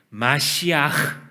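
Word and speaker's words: מָשִׁיחַ: 메시아는 마시아흐 한번 따라해 볼까요? 마시아흐. 예, 끝에 이 가래가 끓는 소리가 나야 정식 발음 맞습니다.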